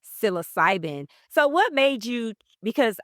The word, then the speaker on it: psilocybin: And so, your specialty is, how do you pronounce it? Psilocybin. Psilocybin.